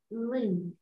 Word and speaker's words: 零: Zero in Chinese is ling. Yeah, 很好. Second tone, Susan. Rising. Rising tone. Mm-hmm. So make it rising.